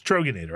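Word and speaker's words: Troegenator: So it's Troggenator. I was mispronouncing it. And I believe that's a Pennsylvania beer, isn't it? That's a very good question. I think it may be. Yeah. Troggenator, yes.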